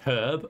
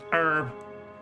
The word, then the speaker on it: herb: And it's so weird to hear, like, in-game, like, half the characters saying herb and the other one's going herb.